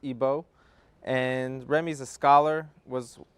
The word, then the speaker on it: Igbo: from Nigeria from the Igbo tribe otherwise pronounced ebo and Remy's a scholar